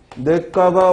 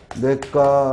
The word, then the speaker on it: 냇가: 나노를 가지고 물어도 마찬가지죠 냇가 그러면 내 까봐 원칙이지만 모두 된다고 냇가 라고 발음하는 것도 허용한다는 말이야 요대 촛불 올 어차피 사회